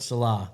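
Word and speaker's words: Saleh: Robert Salah.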